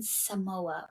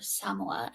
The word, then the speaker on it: Samoa: They're setting out with those 25 people, 16 crew members, and 9 passengers, going somewhere in Samoa, or Samoa, I think is actually how you say it.